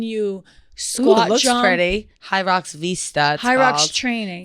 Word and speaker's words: Hyrox: Hyrox training. It's spelled H Y R O X.